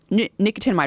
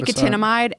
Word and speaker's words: nicotinamide: But nicotinamide riboside, which gets converted into that, which eventually makes its way to NAD, is a supplement.